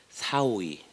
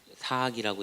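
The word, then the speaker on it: 斯惡已: 세상의 모두가 아름다움으로 알아보는 자체가 사오이, 사악이라고 되어 있는데 사오이죠. 오라고 읽습니다.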